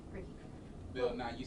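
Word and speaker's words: Ricci: It's pronounced Ricky. Ricky.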